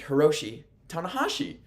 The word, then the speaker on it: Hiroshi Tanahashi: It is Heromu Takahashi and Hiroshi Tanahashi. That's the difference.